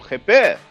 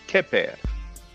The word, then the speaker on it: Kheper: Now the Kh is a bit difficult to pronounce. That sound doesn't exist in French or English, so a lot of people pronounce it like a K. So they pronounce it Keper.